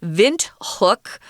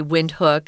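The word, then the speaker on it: Windhoek: city is actually named vent hook which is the German pronunciation you can also say wind hook I I think people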